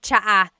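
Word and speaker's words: tsaa: Polyglot said it's like the word cha. Cha in Tagalog is tea. like the tea that you drink. And it's spelled T S A. Cha. Cha. That's such a Tagalog spelling. I love it. There's the ts sound and then the double vowel uh pronunciation. Cha.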